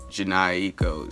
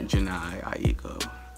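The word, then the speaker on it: Jhené Aiko: Yeah, and she's not like Janae Eco status for me to just be like, I don't know how to say it. I got to try to pronounce it properly. Yeah. Janae Aiko.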